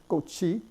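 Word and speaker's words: 꽃이: In this word, gochi, the chiut is in fact pronounced ch.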